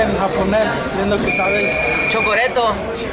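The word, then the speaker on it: チョコレート: Chocoreto, es casi se dice igual, chocoreto.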